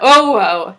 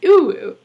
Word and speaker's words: UwU: And it's like, oh my gosh, it's not oh well, it's ooh.